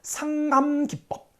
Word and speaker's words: 상감기법: 상감기법. 끊어서 읽어야 돼. 상감기법. 이렇게 읽으면 좀 괜찮아. 붙여서 읽으면 이게 혀가 잘 안 돌아가는 사람은 삼갑김밥 이렇게 나옵니다. 자, 끊어서 상감기법. 삼갑김밥 아닙니다. 상감기법.